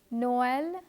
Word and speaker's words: Noël: letter I, the letters A and I are pronounced separately. Let me give you other examples: Noël, Israel, naïve, and héroïne.